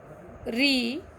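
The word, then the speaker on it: ऋ: अब यहाँ पर मैंने बताया कि रू जो है वो हम मराठी में रू उच्चारण करना है, हिंदी में रू का उच्चारण री करना है।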